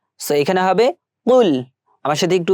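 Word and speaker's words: قُلْ: কুল কফলাম পেশ কুল এটা কিন্তু আমাদের গলার ভিতর থেকে উচ্চারণ করতে হবে কুল অনেকে বলে থাকি কুল এখানে হবে কুল আমার সাথে একটু উচ্চারণ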